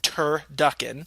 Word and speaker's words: turducken: said yes it has we put an emphasis on the tur when spoken turducken pronunciation and try to